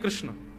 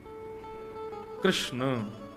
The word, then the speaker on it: कृष्ण: कृष्ण, कृष्णा नहीं, कृष्ण ठाकुर जी का नाम कृष्ण रखा गया।